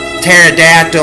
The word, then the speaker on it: pterodactyl: can't you hear a pterodactyl when it goes to the laboratory because the p is silent do you think anything